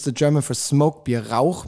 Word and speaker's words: Rauch: Rauch means smoke, that guttural CH, Rauch, which is very hard to pronounce for a lot of people from England or with English language background.